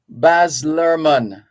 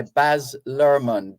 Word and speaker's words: Baz Luhrmann: Baz Luhrmann, wear sunscreen.